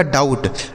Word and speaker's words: doubt: DOUBT, देखिए यहाँ पर जो बी लिखा गया है ना, यह साइलेंट है, मतलब इसे नहीं पढ़ा जाएगा। तो इसे क्या पढ़ा जाएगा, डाउट।